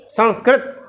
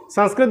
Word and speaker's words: संस्कृत: संस्कृत बोलिए, शुद्ध उच्चारण। संस्कृत संस्कृत संस्कृत ऐसा उच्चारण अधिकतर दक्षिण भारत वाले कहते हैं, उनका ऐसी परंपरा है, उनकी ऐसी परंपरा है इस प्रकार से उच्चारण करने के। लेकिन उत्तर भारत का ये उच्चारण, उत्तर भारत के हिसाब से क्या उच्चारण सही है? संस्कृत। इसी प्रकार का उच्चारण करना चाहिए, अपनी परंपरा से यही प्राप्त है।